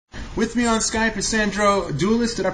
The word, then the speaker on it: Sandro Doulis: With me on Skype is Sandro Doulis. Did I pronounce that correct?